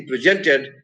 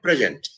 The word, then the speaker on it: present: he gave me a present. So they are present as a noun in the first syllable, but he presented a paper. Is there present is a second syllable, is accented in the second syllable.